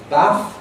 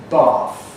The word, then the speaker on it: bath: common words, in which historically there was a short vowel, but the south of England, southeast of England, and received pronunciation underwent a change from a to r. So historical bath with a short vowel has become present day bath.